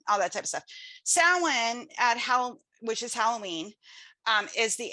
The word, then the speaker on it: Samhain: It's Samhain.